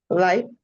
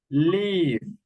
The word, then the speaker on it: live: When you say life, you are saying this word. Okay, this is life and this is live. Okay, the verb is live. This one live and you are saying life and life is this word.